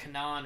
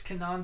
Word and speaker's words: Kenan: saw Kenan song and I know it's not Kenan I really no it's not it's like Kanaan Organon it's something not Kenan I'm not gonna butcher